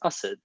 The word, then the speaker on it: Asad: with my indian family and my name is pronounced us so it was oh okay that's a jar and then i adopted assad because it's it's easier um to get by